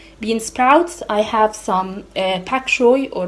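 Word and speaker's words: bok choy: sprouts, I have some pak choy or bak choy. I don't know if it's pak or bak. I'm pretty sure it's pronounced bak choy.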